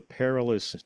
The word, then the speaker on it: perilous: Perilous through the perilous night.